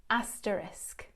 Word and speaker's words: asterisk: the little star symbol and it should be pronounced as asterisk oh whoa I believe you score your first